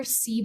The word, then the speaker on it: CBIZ: fact there so um we are CZ if in case you were wondering how to pronounce our name um we are a